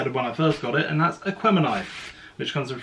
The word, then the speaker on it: Aquemini: And I can say it properly this time instead of when I first got it, and that's Aquemini, which comes with 3 very limited edition discs, which is, like, off memory, a yellow, green and blue.